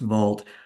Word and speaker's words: Wald: Uh the word shine in German means beautiful and wald which would be pronounced vault uh means forest or trees.